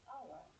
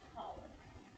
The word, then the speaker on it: hour: It is because the pronunciation of this is hour. This is silent. Maybe some of you who are non-native English speakers and who are just beginners in learning English, you may pronounce this as power. It's not power, but hour.